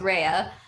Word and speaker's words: Rhea: I know it says Rayu on my screen, but I assure you it's pronounced Rhea.